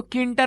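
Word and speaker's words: Tkinter: लगा नहीं दिया ओके सो किंटर नाम है उसका इस तरीके से जो टी है वो साइलेंस है सो बेसिकली जो किंटर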